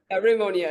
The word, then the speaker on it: Raemonia: Ramonia with it like an Italian accent or Yeah. I'm not I don't like a Greek accent. Ramonia is is how I would how I would say it.